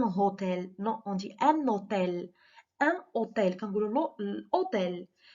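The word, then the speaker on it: hôtel: اش، اش مي هنا ما كتنطقش، ما كنقولوش ان هوتيل، ان هوتيل نو اون دي ان اوتيل، ان اوتيل كنقولوا لو الاوتيل.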